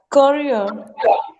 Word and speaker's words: career: Career. Career. Career. Career. Career. E-A. K sound. Career. Okay. This R sound will be prominent, but this R sound will not be there. It is ear.